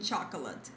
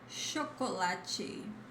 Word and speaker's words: chocolate: Chocolate, chocolate. See the difference? It's not cha but cho.